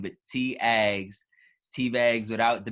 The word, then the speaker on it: Tiagz: Realized, like for real, on a serious note, nobody can pronounce my name. It's either Tiagz, Tigs, the worst one. Tits, bro. Tiagz. Tiagz. It's like a T.